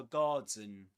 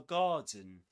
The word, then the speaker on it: garden: This starts, this word garden starts with the same vowel sound as in answer. Answer. Garden. Garden. Answer.